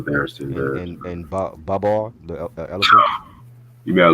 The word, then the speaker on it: Babar: and and Babar, the elephant.